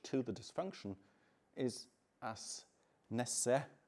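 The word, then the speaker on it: Nesse: the dysfunction is as Ness as it's pronounced where the name originates uh warns viewing diseases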